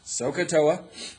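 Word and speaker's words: SOHCAHTOA: So, SOA, all right, is how we say it. It's S O H C A H T O A.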